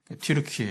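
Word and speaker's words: 튀르키예: 소아시아 지금의 티르키의 옛날에 더키라고 했는데 요즘에 어 어쨌든 자국어 자국어 발음으로 이제 불러 줘야 된다 해서 이제 영어식으로 터키가 아니라 이제는 그들의 쓰는 이제 국명으로 티르키에 이렇게 부르죠.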